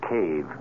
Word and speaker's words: cave: in stygian cave forlorn for myself i equate cave with the latin word spelled the same way c-a-v-e but pronounced cave it means beware our cast included